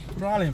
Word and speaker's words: Praslin: பிராலன் பிராலன் ஆக்சுவலா இங்க உள்ள மக்கள் எல்லாமே பிராலயன் அப்படின்னுதான் சொல்லுவாங்க நம்ம ஆக்சுவலா இந்த ஸ்பெல்லிங் வந்து பாத்தீங்கன்னா பிரெஞ்ச்ல இருந்து வந்துருக்கு பிராலயன்ங்கறது. பிரெஞ்ச் உச்சரிப்பே டிஃபரெண்டா இருக்கும். இங்கிலீஷ்கக்கும் பிரெஞ்ச்க்கும் டிஃபரண்ட் இருக்கும்.